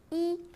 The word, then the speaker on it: 一: Lorsque i est seul ou lorsqu'il forme un numéro, il se prononce au premier ton.